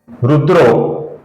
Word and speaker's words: रुद्रो: शाश्वत स्थानो वारोहो महातपाह अब यहां पर देखिए दोस्तों ये रुद्राह शब्द है आगे मृदु व्यंजन है व इसकी वजह से ये रुद्रा का ओ उच्चारण यहां पर हुआ है।